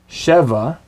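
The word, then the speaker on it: שבע: Sheva, shva. Notice the accent on the first syllable in sheva.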